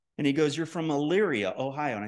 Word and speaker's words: Elyria: And he goes, you're from Elyria, Ohio. And I said, yeah, you actually pronounced that correctly because people usually biff up that name. And he goes, yeah, I actually was in Elyria for a little while.